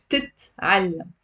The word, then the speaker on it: بتتعلم: It's actually بتتعلم. It's also one of these complicated words to pronounce. Why? Because most of my students drop one of the t's.